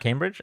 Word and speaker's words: Cambridge: They say Cambridge. Oh, Cam like ham.